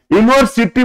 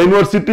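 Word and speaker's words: university: मैंने accident N लगा यूनिवर्सिटी professor तो यूनिवर्सिटी में देख रहे हो यू है लेकिन ये लगा क्योंकि यूनिवर्सिटी य से शुरू हो रहा है ठीक है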